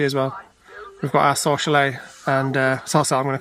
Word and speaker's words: Sorsele: Celia, she pronounces it Sorsel. Sorsel. Yeah, we said Sorsele and she was like, really? I'd pronounce it Sorsel, so I guess it just depends where you're from.